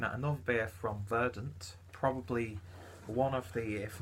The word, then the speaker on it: Verdant: a bad thing about Verdun beer or verdant or however you want to pronounce it I think Lee is properly pronounced verdant and I'm not too